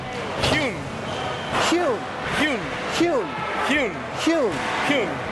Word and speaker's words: Hyun: Hyun.